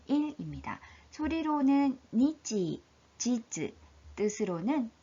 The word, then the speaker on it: 日: 소리로는 니치, 지즈, 뜻으로는 히 또는 까라고 읽죠.